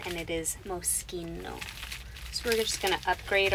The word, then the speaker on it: Moschino: Moschino as a brand some of you might say moshino because that's how it's spelled but it's an Italian name and it is Moschino so we're just gonna